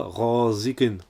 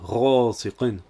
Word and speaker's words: غَاسِقٍ: غَاسِقٍ, le S se prononce S. On ne prononce pas غَاسِقٍ, mais bien غَاسِقٍ.